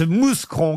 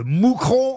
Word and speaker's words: Mouscron: Une première citation pour Thierry Deldael, qui habite Mouscron, qui a dit... Moucronduic, pardonnez-moi Oui. de vous reprendre, cher On ne maître. prononce pas le S en Belgique, oui.